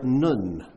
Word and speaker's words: Nun: The 14th verse should start with the letter Nun. That's the letter Nun. You spell it like none, N-U-N.